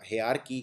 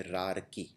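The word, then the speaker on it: hierarchy: बोलते वक्त आता है हे आर्की कई लोग बोलते हैं इसलिए हे आर्की जब आप बोलेंगे हे आर्की तो ये वाला आर आप ओमेट कर देंगे लेकिन ये याद रखना है इसको प्रोनाउंस किया जाता है रार की अगला है डिस्क्रिपेंसी डिस्क्रिपेंसी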